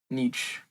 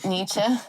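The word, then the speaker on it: Nietzsche: And yeah, it's definitely different than the I guess pop culture interpretation of Nich. Nichi. I I can never pronounce his name. Oh, Nietze. Nichze.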